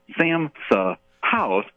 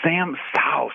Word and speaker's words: Sam Sa'House: Guide, he hosted, and they probably pronounced my name 15 different ways. There was 3 different individuals: Samsa House, Samsa House, Samsa, and I'm giggling. But yeah, it's just Sam Sauce.